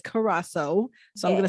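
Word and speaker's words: Curaçao: pronounce it or cola that's how i say it's karako but i think the proper way is carrasso so i'm gonna say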